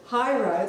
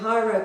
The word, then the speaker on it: Hairo: Ishimaru, TEPCO announced the launch of Hyro, that's spelled Hairo, decommissioning company, its new company to deal with decommissioning.